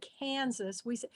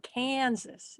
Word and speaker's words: Kansas: I mean, we don't say Kansas. We drag the first syllable, Kansas.